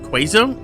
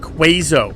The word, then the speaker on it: queso: Queso? Queso. Queso. Queso. I'm saying it right, correct? Queso? Yeah. But he calls it Quazo when we first started getting introduced to it.